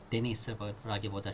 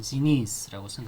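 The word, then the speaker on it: Денис: 엑센트 뒤로 들어서는 데니스라기보다 실제 러시아어로 발음될 때는 지니스라고는 그렇게 많이 발음됩니다.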